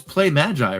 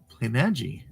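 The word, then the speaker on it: Playmaji: about how to pronounce our company name it's play Magi right just am I pronouncing it correct you did great play m g oh play Magi okay well I have to correct that at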